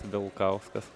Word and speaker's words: Vilkauskas: just don't make L soft. It's Vilkauskas.